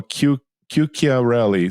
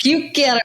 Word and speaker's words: Chiuchiarelli: So everybody knows it's not Q. It's not spelled with a Q. It's like Chiuchia. So Chiuchiarelli. So that Chiuchiarelli.